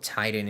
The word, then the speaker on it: Tighten: And he spells like if you're tightening something, not like a titan, like the the Greek